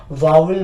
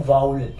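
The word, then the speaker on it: vowel: वाउल sound के पहले लो हम इसे मिस प्रोनाउंस करते हैं वावल बोलकर वावल बोलकर तो ये वाउल नहीं है ये होता है वाउल अब वाउल लेटर्स क्या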